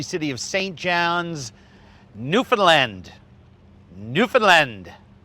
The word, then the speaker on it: Newfoundland: Newfoundland. Pronounce it properly, please.